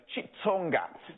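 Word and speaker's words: Xitsonga: in our country because sometimes you pronounce it with a chi or sometimes it's a click but this one apparently it's a chitsonga so heading north west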